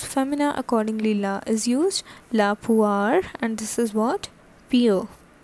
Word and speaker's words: la poire: Next is la poire, la poire. So this O-I sounds like ua, alright? So this is femina, accordingly la is used, la poire, and this is what?